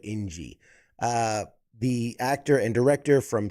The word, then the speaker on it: Njie: Daniel Stisen and Njie. It's like enjoy, but Njie.